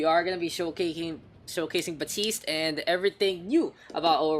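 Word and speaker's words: Baptiste: people we can invite batiste Baptist batiste it's called the t's the P is silent guys you know but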